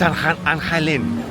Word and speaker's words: San Angel: Well, it's San Angelin as I call it. But I think it's an Anhalin. But um if you say it properly, which we can't, which we should, but we can't.